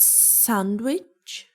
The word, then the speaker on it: sandwich: Is it sandwich?